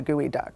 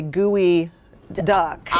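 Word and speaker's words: geoduck: Did the reporter mispronounce the name like I did when I first moved here? No, he actually just thinks it's a gooey duck.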